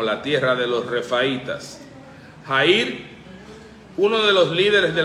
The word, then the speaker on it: Jair: Jair, luego ese nombre es transliterado al griego y se pronuncia como Jairo, que significa Dios ha iluminado. Jair y Jairo es lo mismo.